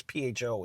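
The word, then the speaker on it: phở: It's PHO is the name of it. But they actually pronounce it pho.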